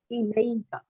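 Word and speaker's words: إليك: So let's say we want to attach it to the pronoun ka. So how will we pronounce it? It's going to be ilayka.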